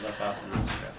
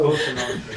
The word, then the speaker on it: Cosa Nostra: was just telling you that's the way they pronounce the mob. That's the La Costa Nostra. That is a gorgeous picture of Mike and what's Joe. his name, Papa Smurf. no, Cosa Nostra, yeah.